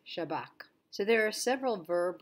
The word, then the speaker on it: Shabak: However, right here, the Shin Bet will be said Shin Bet, but the other abbreviation will not be said Shin Bet Kaf, but it will be pronounced Shabak.